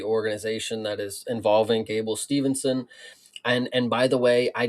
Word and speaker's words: Steveson: heard has people done, I've heard people pronounce it Steveson. So I don't know if that is better for you or if that's more correct. But yeah, Steveson is how I've heard it pronounced and how I pronounce it.